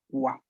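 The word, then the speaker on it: は: Pero luego tenemos otro wa, pero este no es este, pero se pronuncia igual. ¿Por qué? Porque es partícula. Exactamente, porque es la sílaba ja, que pero aquí se encuentra en función partícula. Por ende, se escribe ja, pero se pronunciará wa.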